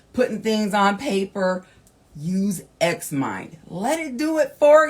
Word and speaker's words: Xmind: Lastly of these gifts is apply an app called Xmind. All right. It's one word. It how it sounds is how it's spelled.